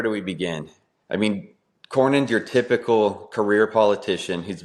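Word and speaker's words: Cornyn: Is that how you pronounce his name? Corin. John Cornin. John Cornin.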